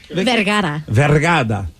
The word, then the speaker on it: Vergara: Vergara. All right. There's no D in it.